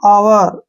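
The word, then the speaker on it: hour: एच ओ यू आर हावर नहीं पढ़ना ओ से पहले एच आया इसको छोड़ देंगे इसको पढ़ेंगे हम आवर आवर ऐसे आवर आवर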